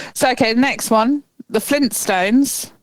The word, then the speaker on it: Flintstones: But apparently people are missing the first T in Flintstones. Um, I think that's just because it's a you don't pronounce it very hard, do you? You could Flintstones, but it's you you sort of it's a soft tea, isn't it? You sort of skim over that a bit.